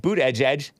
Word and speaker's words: Buttigieg: to talk like that Pete boot Edge Edge that's how you pronounce his name b-u-t-t-i-g-i-e-g surprised to hear